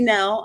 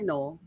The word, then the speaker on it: Knoell: would say like like the k is silent and then like the o was silent and then like one of the l's is silent and so it's just